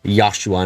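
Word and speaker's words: ヨシュア: Although it's not especially useful considering Oshua's name is pronounced Yashua in Japanese.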